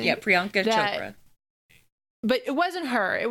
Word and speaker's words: Priyanka Chopra: Yeah, Priyanka Chopra.